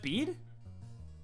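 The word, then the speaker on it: Bede: a product um anyway it's pronounced bead is it literally pronounced bead i never knew that i called him bd the entire time oh yeah he doesn't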